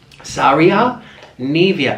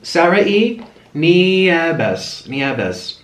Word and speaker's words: Sarai Nieves: Saria Nevia. Oh my gosh, that is not how you say it. Sarai Nieves.